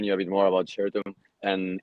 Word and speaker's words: Shirtum: I would like to explain you a bit more about Shirtum and its origins.